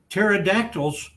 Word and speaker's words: pterodactyl: sometimes they complain about pterodactyls coming into our bathroom in the night and they I think why can't you hear it Grandpa well the p is silent pterodactyl the it's not that's